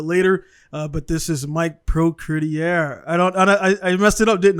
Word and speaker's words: Procureur: It's quite tricky to say Procureur, but it's fine. Procureur.